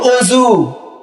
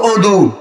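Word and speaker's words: وضوء: ভাষা তো উর্দুতে যেমন ওজু কথাটা আপনারা বুঝতে পারছেন ওজু কিন্তু একটা উর্দু শব্দ আরবিতে যদি বলি আমি তাহলে আমি এটার উচ্চারণ হবে ওদু কি হবে উদু কি হবে বলেন ওদু কিন্তু আমরা বাঙালিরা বেশিরভাগই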